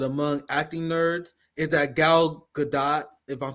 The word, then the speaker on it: Gal: this um uh actress I think that you say her name gal is how you say